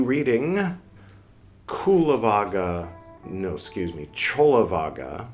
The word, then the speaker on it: Cullavagga: And uh if you'd like to start at the beginning of Chola Vaga, spelled like Kula Vaga, here's the playlist for Chola Vaga.